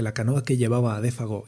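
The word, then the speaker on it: Défago: «Buena suerte, Monsieur Defago», añadió alegremente, dándole por una vez la pronunciación francesa al nombre. «Bonne chance, Defago».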